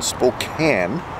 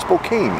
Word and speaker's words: Spokane: for a charge in Spokane which I learned how to say it's not Spokane it's Spokane and there are three caches